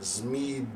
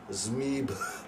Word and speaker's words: ZMEABH: I would pronounce that Zmeeb. It really is, like, it would be aspirant H at the end, be like Zmeeb.